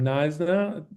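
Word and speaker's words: Knysna: This is how you pronounce this um city um Nisna.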